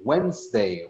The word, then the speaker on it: Wednesday: Now, este de acá, it's difficult to write Wednesday, Wednesday, Wednesday. Suena de una manera, pero se escribe de otra. Es como si esta D casi que no se pronuncia.